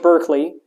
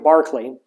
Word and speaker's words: Berkeley: famous views you have George Berkeley or excuse me George Barkley Berkeley is the wrong pronunciation George Barkley so George Barkley he